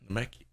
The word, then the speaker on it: Namekian: Aaron, bro, it's pronounced Namekian. Namekian.